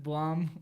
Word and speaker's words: Blum: Blum, like a plum.